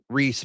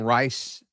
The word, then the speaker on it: Reese: Lachlan Hewlett, Reese Brush. I've been saying Rice. Apparently it's pronounced Reese.